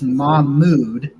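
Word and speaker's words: Mohamoud: It is Mahmood, like your mood, Okay.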